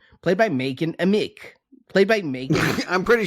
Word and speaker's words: Madchen Amick: Yep, that's how you pronounce it. Madchen Amick.